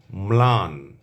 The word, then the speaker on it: ম্লান: আমি আবারও বলছি যদি শব্দের বা পদের প্রথম ব্যঞ্জন বর্ণের সঙ্গে লফলা থাকে তাহলে সেই লফলার উচ্চারণ অবিকৃত থাকবে। অর্থাৎ ল এর উচ্চারণ স্পষ্টভাবে আসবে।